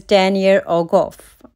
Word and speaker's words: Dan yr Ogof: showcase Center for Wales the name of the cave is a bit difficult to pronounce as it's in Welch so the name is Daniel ogoff the river linfeld emerges